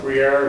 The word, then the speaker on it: Brière: Brière, it's spelled b r i e r r e.